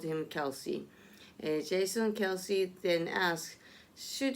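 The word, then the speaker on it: Kelce: made headlines this fall whether Kel should be pronounced Kel or kelc has been a topic of discussion even in his own family both Travis and his brother Jason Kelsey pronounced their last name as Kelsey h on an episode of their new hates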